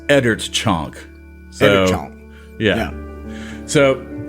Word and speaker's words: Oeddertchonk: Eddert Chunk. See, but I still don't think that's right. You still have a tendency to say chunk, and it is chonk.